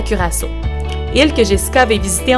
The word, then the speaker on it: Curaçao: Donc, Jessica qui est en direct de, je vais être sûre de bien le prononcer, Curaçao. Curaçao.